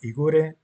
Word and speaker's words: Igor: of the guides was Igor and yeah I'm going to pronounce his name Igore because that's how he would pronounce his own name.